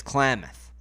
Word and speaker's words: Klamath: The pronunciation, from what Google told me, is Klamath. That was going to be my first question. Okay, Klamath.